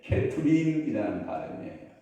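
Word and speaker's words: כתובים: 그 발음하고 좀 비슷한 발음이 있는데 케투빔이라는 발음이에요.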